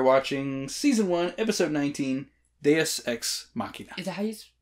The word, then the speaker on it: Deus Ex Machina: season one episode 19 deus ex machina is how you say it deus my bad i'm saying it wrong this whole time which is